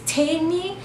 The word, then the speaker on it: Tamy: my name is t you can use tamy or as I usually say my name is Amy with a te which helps people to